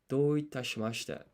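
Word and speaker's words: どういたしまして: And this is not ta, it's te. Do itashimashite.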